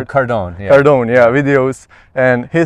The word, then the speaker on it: Cardone: the grand Cardon Cardon video how do you pronounce Cardone Cardone yeah videos and he said it makes sense